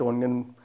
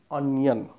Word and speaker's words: onion: We eat onion burger daily. We eat. Always you like to eat onion, not onion. O is pronounced as a onion. It's the onion.